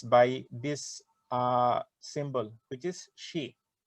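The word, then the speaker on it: ξ: How should we pronounce this? Xi? Xi Jinping, Yeah. China president. So we should pronounce this in this way, Xi.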